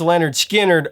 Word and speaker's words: Lynyrd Skynyrd: night really now released on August 13th 1973 pronounced Leonard skinnard wasn't an instant Blockbuster actually it steadily built